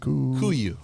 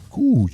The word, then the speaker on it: Kuiu: So those are your how do you pronounce that? Kuiu. Kuiu.